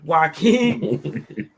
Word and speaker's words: Joaquin: I always say his name wrong. The J aside. Joaquin.